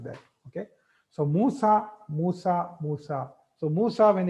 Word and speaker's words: Musa: Now Musa, you don't pronounce it as Musi.